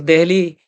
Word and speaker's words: देहली: अंग्रेज लोग दिल्ली नहीं बोल पाते थे तो डेली ऐसा कुछ कहते थे, उससे डेहली ऐसा लिखा जाने लगा, DEHLY। और देहली हमारी भाषा में उच्चारण उसका किया जाने लगा।